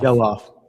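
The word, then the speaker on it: Gelof: Yellof. It's a short e or whatever the phrase is that they teach you in school.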